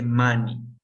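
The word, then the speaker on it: money: mani dinero se dice Manny Okay dinero se pronuncia así como como El maní pero sin la tilde mami okay la palabra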